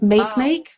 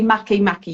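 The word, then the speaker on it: Makemake: forming a yard with make make or should I say Maki Maki you have to pronounce it makimaki okay so this sextile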